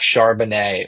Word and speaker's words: Charbonnet: of someone that has a last name that rhymes with Chardonnay. I am not scared of Zach Charbonnet whatsoever.